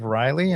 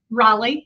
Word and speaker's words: Raleigh: is right outside of Riley. Am I correct with that? Raleigh. Yep. Raleigh. Okay. I'm So, how do you say it? Raleigh. Raleigh. Okay. I've been Riley my entire life. Raleigh.